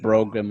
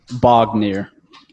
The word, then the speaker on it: Bognir: the dwarf it's that i said bro grim or whatever it was it is actually i have a name written down for him bognir bognir yes the dwarf's name is